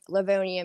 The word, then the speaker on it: Livonia: Is it Livonia or how is that pronounced? Yeah, you pronounced it right, but I was born in Livonia, Michigan, but I Okay, actually live in Georgia, and I've lived here Georgia.